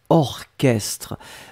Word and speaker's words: orchestre: La première chose c'est orchestre. Souvenez-vous C'est bizarre, mais il existe certains mots qu'on écrit ch, mais qu'on prononce que. Il n'y a pas beaucoup, c'est vraiment une minorité, mais ici, c'est un exemple.